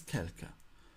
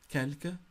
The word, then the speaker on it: quelque: Another indefinite adjective in French is quelque, which means some, a few, any, or a small quantity of.